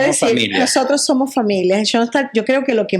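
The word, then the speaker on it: Schoenstatt: Y Shstad se escribe como lo están viendo en la pantalla, ¿verdad? Porque le sonará que es Shstad.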